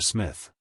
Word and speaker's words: Psmith: I can say that Mr Smith the p is silent as in shrimp he reminded her oh